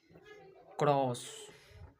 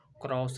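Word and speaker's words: chorus: Next क्रॉस, क्रॉस नहीं कॉरस, कॉरस बोलेंगे, क्या है कॉरस बोलेंगे। सी एच जहाँ पे लगा रहेगा उसका उच्चारण क्या आ जाएगा, क आ जाएगा।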